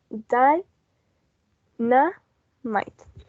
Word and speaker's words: dynamite: correct answers here the word dynamite may be a little bit tricky because we see a lot of letters that should have a vowel sound but it only has three syllables because we have because we have a two victims we have die and um might at the end so it's only a three syllable die na knight so only three that